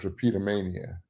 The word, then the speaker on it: drapetomania: One of my favorite is drapetomania. Um, this white physician from Louisiana by the name of Cartwright came up with a disease called drapetomania. Some people pronounce it drapetomania.